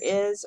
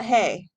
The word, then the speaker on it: hay: existence of something there is or there are and the pronunciation of this is I not hey the two questions we're